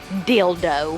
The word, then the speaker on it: Dildo: pronounce the name, and they say it is pronounced just like you think it is, Dildo.